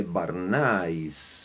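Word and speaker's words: Bernays: sobrino de Sigmund Freud Edward eh barn acho que se pronuncia é barnis né b a r w a y s Edward barnis sobrino de Freud ele escreveu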